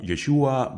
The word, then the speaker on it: Yeshua: fluer y Samuel safra el nombre yeshua se habría pronunciado yeshu durante el siglo primero al parecer los galileos no pronunciaban la aí la letra final de la palabra de ahí que la